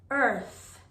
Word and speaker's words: earth: next is earth earth the reason why this sound is so difficult is because of the th sound remember that when you make the th sound your tongue has to come outside of your mouth earth earth earth if you don't say the th correctly it'll sound like you're saying earth make sure you're saying earth you